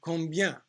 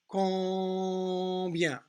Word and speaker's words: combien: And combien. These are very common words. Combien. Remember, don't pronounce the M. This has 2 different nasal vowel sounds in this word.